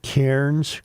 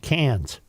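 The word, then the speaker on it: Cairns: Joe yesterday we said that the traveling lineman's were in I pronounce it Kairens Queland. Santael Jim tells me it's pronounced cans.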